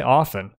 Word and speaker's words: often: I say often. I don't pronounce the t.